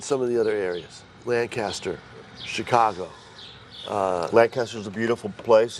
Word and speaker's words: Lancaster: I was there 3 years and went to Lancaster, not Lancaster. It's Lancaster. Lancaster, Yes, right.